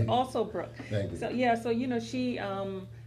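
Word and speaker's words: Alsobrooks: Yeah, say her name correctly. Yeah, right. It's Alsobrook.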